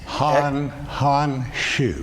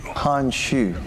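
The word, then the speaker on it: 韩叙: conversation with Chinese Ambassador Han Shu. Han Shu. It's spelled Hanxu, so I'm glad you know how to pronounce that.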